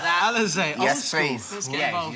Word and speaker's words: Alizé: Alizé. Yes, please. Yeah, you like that? Yeah, yeah. Let's have some Elise. Alizé.